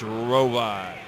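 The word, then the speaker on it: Hrovat: singlet a 2008 Olympian Andy with the silent h root 96 kilos Jake Varner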